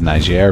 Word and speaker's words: Niger: Some people say Niger, some people say Niger. I think the correct way to say it is Niger, but if you want to say Niger, you can.